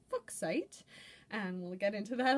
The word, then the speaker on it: fuchsite: be looking at fuchsite commonly called fuchsite but was originally meant to be pronounced book site and we'll get into